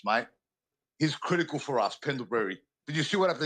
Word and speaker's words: Pendlebury: you still pronounce you pronounce him like a like a a form of a berry. Pendleberry. Pendleberry. His name is Pendlebury. Pendlebury. Yeah, Pendleberry. It's It's not Pendleberry. That's Pendlebury there.